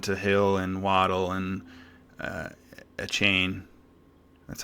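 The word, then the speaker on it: Achane: You got Tua throwing to Hill and Waddle and a chain. That's how you say it, right? A chain? I think it's A-chain. Oh, A-chan.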